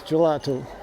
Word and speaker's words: gelato: It's one of my favorite things is gelato, which is, I just pronounced intentionally in a Italian way. Ice cream in Portuguese is gelado with a D.